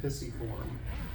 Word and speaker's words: pisiform: We have the scaphoid, the lunate, the triquetrum, and the pisiform. And yes, it is pronounced pisiform.